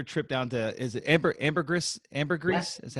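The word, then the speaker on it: Ambergris Caye: Now, I know that your trip down to, is it Ambergris? Is that how you pronounce it? Ambergris Key.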